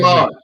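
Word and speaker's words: Glaude: Eddie Glotty? How do you say Glod.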